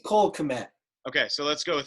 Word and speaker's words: Kmet: I don't know if the K is silent, but Cole's fine with me. It sounds great. It's a hard K.